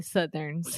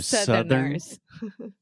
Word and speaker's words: Southerners: Eu não falei Southerners. I falei Southerns. Yeah. That's why. So Southerners.